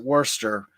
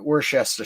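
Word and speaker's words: Worcester: know something like uh I guess you would pronounce it Worster we end up pronouncing it wor wor shester shester sh sh because you know our mouths don't work that way you know or you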